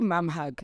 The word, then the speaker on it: Mamthug: I think the inception of Mam, it's actually Mamhug. The T is silent like Tando. Jade. Nje. And I think when everybody started calling me Mamthug, I just ran with it.